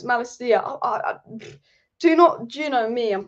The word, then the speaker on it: Malacia: reliable outlet to Jamal Malachi. I've said his name wrong. Why have I said Jamal? Why have I said Jamal? Don't know. Tyrell Malachi, or someone said it's not Malachi, it's Malacia.